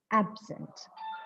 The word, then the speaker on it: absent: of the syllable so when this word is used as an adjective the stress falls on the first syllable and when the same word is used as a verb in a sentence there is a change in the stress pattern see there is a stress shift this is what we